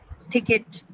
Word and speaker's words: ticket: So the only the first sound in ticket is uh aspirated.